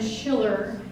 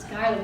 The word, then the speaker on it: Schuyler: Many people would pronounce his name Schiller, but it's Schuyler.